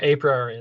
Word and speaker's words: a priori: market balance basket analysis a priori yep said that again what was that a pr am i pronouncing it right yeah a priori that's right yeah it's a market